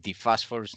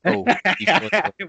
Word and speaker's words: Dephosphorus: But Listen, how do you pronounce phosphorus, for example, the chemical element? phosphorus. Okay, so it's basically the same thing since.